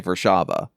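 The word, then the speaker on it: Warszawa: If I say Warsaw, you know I'm talking about Warsaw Poland. If I say Versaba, that's how it's pronounced in Polish.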